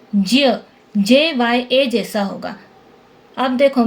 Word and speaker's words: ज्ञ: हिंदी में इसका उच्चारण ज्ञ GYA की तरह करते हैं, लेकिन संस्कृत व्याकरण के अनुसार ज्ञ दो व्यंजनों के मेल से बनता है। देखो, ज धन न्य धन अ। ठीक है, ज्य दो व्यंजनों से मिलकर बनता है तो इसका उच्चारण ज्य जैसा होगा, JYA। इसको हम ज्य बोलेंगे। इस नियम के अनुसार इसका शुद्ध उच्चारण ज्य JYA जैसा होगा।